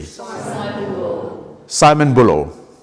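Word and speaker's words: Balle: Simon Bull. Simon Bullo. Not Simon Bell. Bull. Simon Bull. Right. So one more please. Simon Bull. So how is spelled? How does it spell? B-A-L-L-E. But you pronounce Bull.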